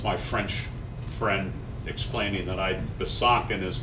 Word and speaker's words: Besançon: That's my French friend explaining that Besançon is not the way you pronounce Besançon.